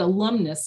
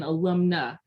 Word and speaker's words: alumna: I said alumnus when it should have been alumna.